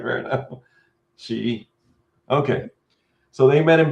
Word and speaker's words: Xi: Google like Xi. Google like Sheets, not Xi. All right, fair enough. Xi.